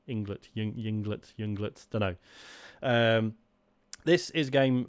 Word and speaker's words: Ynglet: worth talking about is i'm gonna pronounce it inglet spelled with a y y n g l e t england yinglet junglitz um this is